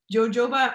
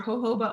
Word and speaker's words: jojoba: pores are open um jojoba or hoba oil people have different ways of of pronouncing it um is really wonderful